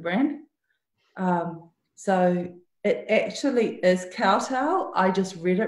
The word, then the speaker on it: Kowtow: the most common question is how do you pronounce the name of the brand so it actually is cartel I just really wrong you know when I was researching named for the brand and I said Cotto because I've never heard of the word and